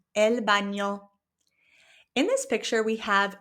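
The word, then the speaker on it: baño: This word also has that squiggly line over the n. So it becomes elo. Okay. It has that ny sound elo.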